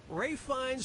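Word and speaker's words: Ralph Fiennes: if it was that easy player - yeah ray finds first name is spelled like Ralph but pronounced race and his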